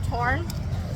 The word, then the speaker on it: Torn: Thailand instead of Thailand, anytime you see a TH, only say it as a T in Thai. They'll put TH in a lot of stuff. So like, there's a gym called Giat Kam Torn, and it's spelled with tons of H's.